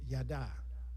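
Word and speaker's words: yadah: The phrase give thanks comes from the Hebrew yada. Yada. You can spell it if you are writing it Y-A-D-A-H.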